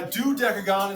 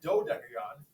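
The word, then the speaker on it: dodecagon: do deagon uh D deagon is a mispronounced mispronounced do deagon but is a 12-sided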